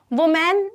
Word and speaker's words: woman: तो ये जो है, ये अगर आपका है woman, अगर सिंगल वुमन की बात करें तो ये वुमन, वुमैन नहीं होगा, ठीक है, वुमैन नहीं होता, वुमन।